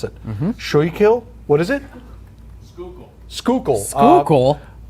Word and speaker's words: Schuylkill: I'm not going to say the word because I can't pronounce it. Schuylkill. What is it? Schuylkill.